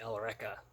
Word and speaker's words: Eureka: And then I remember somebody talking in the comments of my first video about Eureka 7, or they pronounce it in the anime. They pronounce it Elreka, which is weird.